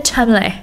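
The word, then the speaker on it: Cholmondeley: atau Lady Rose chamle walaupun tulisannya chond le bacanya chamle sejak tahun 2019 ada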